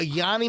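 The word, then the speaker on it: yoni: A Yanni massage is it's spelled Y-O-N-I. Oh, okay. It's not. See, I heard Yanni. I thought it was the musician.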